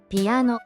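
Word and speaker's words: ピアノ: 피아노. 피아노. 피아노라고 발음합니다. 첫 음절가 반타금입니다. 입술을 다물었다가 터트리면서 삐리를 내야 합니다.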